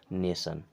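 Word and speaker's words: nation: तो क्या हो जाएगा सन टेंशन यानी कि उच्चारण ही नहीं करना उसका ये हो जाएगा पैशन मेंशन ये हो जाएगा नेशन इस प्रकार से जब टी और एस के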